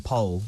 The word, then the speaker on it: Powell: Overnight, it turns out, Jonathan Pole, as I say, pronounces his name Pole. I don't know why, because it's spelt Powell, but he's always been very strict about it.